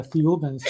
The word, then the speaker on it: Thiaoouba: So what Michel was told that this group of ETs, the Thiaoubans, remember Thiaouba is pronounced very similar to Jehovah.